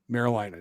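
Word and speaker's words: Meriläinen: be Levi uh and the last name is me r i I'm going with marilan l a i nen marilin that does sound correct Levi marilin uh Sabers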